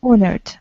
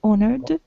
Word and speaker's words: honored: every part of canada honored honored age is not pronounced honored honored your part of